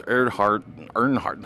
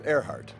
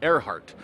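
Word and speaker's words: Erhardt: Elvis Weinstein, originally known as Dr. Lawrence Earnhardt. How do I pronounce that? It was Earhart. Earhart.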